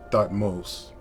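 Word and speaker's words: Thutmose: is convinced that's jamus and that's a closer pronunciation to thought most and that's him getting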